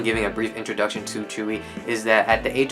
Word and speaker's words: Tzuyu: For the longest time, I thought her name was Tzuyu, because that's not like how it's pronounced, but apparently it's Tzuyu.